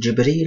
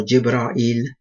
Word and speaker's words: Jibril: Now, it could be pronounced Jibril or Jibra'il. It's all correct.